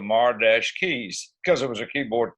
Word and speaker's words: Mar-Keys: It's still pronounced the same, for the marquee out front of the old theater. I said, can I spell it? And they said, yeah. So I called ourselves the Mar-Keys because it was a keyboard type instrumental.